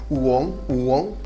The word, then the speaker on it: uống: Uống. And it's got the little shock tone going up, so it's uống.